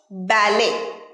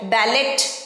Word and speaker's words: ballet: পরের ওয়ার্ড ব্যালে। ব্যালে, লাস্টে কিন্তু টি আছে, তাহলে সঠিক উচ্চারণ কিন্তু ব্যালে, ব্যালেট নয়, ব্যালেট নয়, ব্যালে।